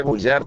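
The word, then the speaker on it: Bouchart: que el templario Armando pero que se pronuncia bullar toma el lugar de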